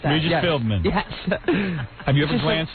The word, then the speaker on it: Philbin: You're still saying the name wrong. Say it again. Let me hear it. Regis Philbin. Philman. I don't know. Philbin, right? Philbin, something like that. Regis Philbin.